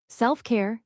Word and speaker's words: self-care: Self-care, stress on SELF. Quick pause, then care, SELF care.